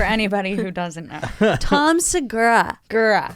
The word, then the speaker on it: Segura: who doesn't know Tom Segura girl sagora how do you say it Josh I think it's Sagara thank you Josh big deal